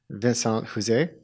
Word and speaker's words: Vincent Houzé: I'm here with my guest, Vincent Houzé. Did I pronounce that right?